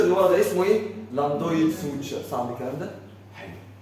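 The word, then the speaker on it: lambdoid: تاني بس خلي بالك السبيلنج بتاعها ال اي ام بي دي او اي دي يعني في بي بس البي سايد ما بننطقهاش اسمه لام دويد سوتش اسمه تاني لام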